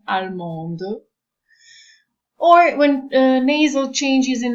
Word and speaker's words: allemande: or add an E, but there is a change in pronunciation, where you read the final consonant, where it's like allemand, allemande.